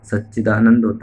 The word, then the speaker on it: सच्चिदानंद: त्वं आनंद ('त्वं', ' मन', 'नंद' कहें, जैसे आनंद है), मनंद-मयस्त्वं, ब्रह्ममय त्वं, सच्चिदानंद (यह हमेशा सच्चिदानंद है), सच्चिदानंदद्वय-द्वितियोसि।